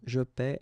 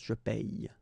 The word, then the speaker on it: paie: it's quite funny because we tend to make the difference maybe in pronunciation, so between this one, je paie, and then some persons can pronounce je paye. Okay, tu paies, tu payes, il paie, il paye. Here it's the same, nous payons, vous payez, vous payez, il paie, and then il paye.